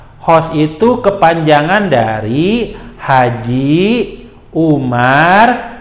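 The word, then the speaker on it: Oemar: HOS itu kepanjangan dari Haji Umar Said Cokro Aminoto. Nah, Haji Umar Said Cokro Aminoto. Kenapa O, Kak? O itu ejaan lama, OE jadi U.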